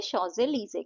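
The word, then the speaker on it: Champs-Élysées: ये उसकी तरह है शोज लीजे इसे शोज लीजे कहते हैं प्रोनाउंस ऐसे किया जाता है तो एक शाम जो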